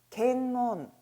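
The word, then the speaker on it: 見聞: " 켄몬 ." " 켄 ." 이 단어는 " 번 " 이라 고 발음 하지 않도록 주의 해 주세요 .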